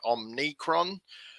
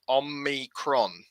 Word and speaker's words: omicron: lot at the moment it is not omnicron um or omricon which is how i used to get confused with omicron omicron it's always short oh